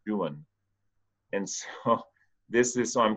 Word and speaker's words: Don Juan: poem called dong-geun it's we would say Don Juan but the British in the 1800's pronounced it doing and so this is